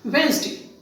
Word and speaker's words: Wednesday: d and ste anyway how is it pronounced I have seen people generally pronounce images where density is it the correct pronunciation no the correct pronunciation is Wednesday let us take another